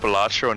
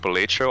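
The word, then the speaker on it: Balatro: know did you know it's pronounced batro not Petro I learned that seven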